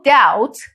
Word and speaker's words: doubt: There is no doubt, B is silent.